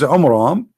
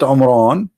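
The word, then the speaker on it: Amram: So Muhammad, he could not even copy the name correctly from the Bible about the father of Moses, which is Umram, not Umran.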